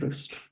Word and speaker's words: Rust: take a look at Roost or rust as it's more commonly pronounced Margot I have a